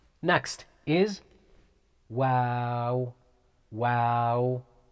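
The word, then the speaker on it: واو: a light letter wow it's almost like wow but it's light letter wow wow next letter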